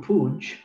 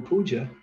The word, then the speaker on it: Puja: If you say Guru Pooj instead of Guru Puja, you're saying Puja. Pooj means putrefaction, where Puja means worship.